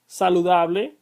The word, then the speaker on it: saludable: If it's on the second to last syllable, it is known as llana.